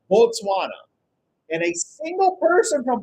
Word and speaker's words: Botswana: So here's where it gets really confusing because we will mispronounce Botswana as Botswana but it's actually pronounced Botswana and a single person